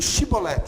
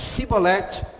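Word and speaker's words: שיבולת: Acontece que os benjamitas não conseguem falar esse som aqui, ó, shin. Então eles falavam para os benjamitas, olha, diga Shibolet. Se ele não conseguisse falar Shibolet, ele falasse Sibolet, ele era preso, porque ele era benjamita,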